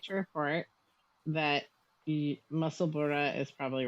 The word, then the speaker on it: Musselburgh: I would like to report that Musselburgh is probably right. Oh. Well, because it is spelled like the same Edinburgh, as Edinburgh. like Edinburgh.